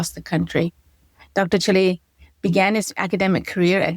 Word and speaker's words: Chille: So the CH is like a K. It's actually Italian. So I have Italian origins. My father from Rome. So it's Chille, like chemistry. Chille.